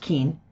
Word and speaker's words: Keane: name is keane yes it's pronounced keen and i'm a senior